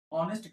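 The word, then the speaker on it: honest: उसके बाद शी is dash ऑनेस्ट girl. यहां पे ए साइलेंट होता है यानी ऑनेस्ट होगा।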